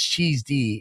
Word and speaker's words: cheesed: And, uh, you know, that's not cheesy. That's cheesed. It rhymes with sick.